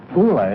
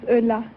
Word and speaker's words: Ulla: like to very much kula is that right I said how you pronounce it no my name is Ulla Ulla good luck thanks